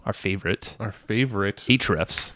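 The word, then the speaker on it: Ahrefs: favorite our favorite each Refs it's actually the only SEO tool really used that is true we canceled all others yeah that's true and it's spelled a href s it's called href s-- and it is an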